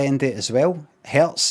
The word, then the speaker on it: Hz: Herz has got a zed sound at the end that sounds like Hz's.